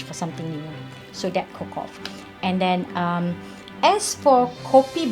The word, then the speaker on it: Cocoft: Often people say Cocoft. They really don't know how to pronounce it. Even I don't really know how to pronounce it, but it's Cocoft because it's actually CO. The first CO is for cocoa, and then COF is coffee, and the T is tea.